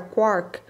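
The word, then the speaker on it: quark: free cox for mastermark a palavra quack deveria ser pronunciada como o corte mas com um k no final em vez do T só que em geral pronuncia-se de modo rimar com lark a diferentes variedades de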